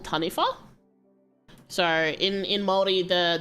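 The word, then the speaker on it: taniwha: um it says it's it's written as t a n i w ha but it's tanif um and it's like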